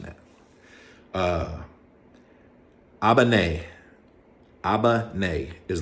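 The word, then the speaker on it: 危ない: like where where you at sorry if I'm mispronouncing that uh Albany Abba nay is like dangerous now I'll remember that was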